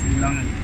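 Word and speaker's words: lilangeni: Okay, if it's plural, call it emalangen. Emalangen? Yeah, but if it's just one, then it's lilangen. Oh, lilangen when it's one, plural emalangen.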